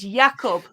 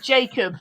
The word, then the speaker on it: Jakob: Okay, our number 19, it is Jakob, not Jacob, because he's Danish.